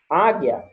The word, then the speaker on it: águia: linguiça e tranquilo certo a palavra águia ela tem um mas eu não pronuncio o o já na palavra